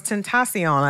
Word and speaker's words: Tentacion: But it was Tentacion, Tentacion.